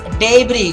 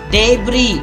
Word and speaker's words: debris: first one is degree the word is debris guys it's not devilish debris I'm sure you've heard